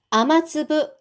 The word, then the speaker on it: 雨粒: 선명한 핑크색 꽃에 아마츠브. 자, 여기 아마는요, 아메예요. 비. 그 다음에 츠브는 알갱이입니다. 그러니까 아마츠브는 빗방울입니다.